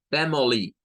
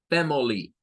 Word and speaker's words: family: Fem, no es fam, es fem, fem, miren, aquí está fem, pero aquí hay dos pronunciaciones.